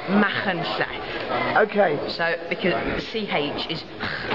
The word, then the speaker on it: Machynlleth: So if we could do a quick how to pronounce. Okay. It's Machynlleth. Okay. So because CH is and then LL is. So it's Machynlleth.